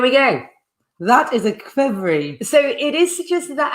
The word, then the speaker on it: Qvevri: Crevery. Well, it's kind of pronounced qvevri, but it's spelled Qvevri.